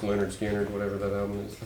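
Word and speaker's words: Lynyrd Skynyrd: them very well it's that weird one it's pronounced Leonard skinnard whatever that album is I think anyway let's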